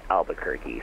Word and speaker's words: Albuquerque: I don't know what to say it it's pronounced Albuquerque Fairwinds 234 hello your clearance is on a